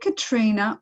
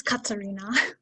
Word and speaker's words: Katerina: So now, is it Katrina or Katerina? I feel like I've been saying it wrong. Can you clear it up for me? It's Katerina. Katerina.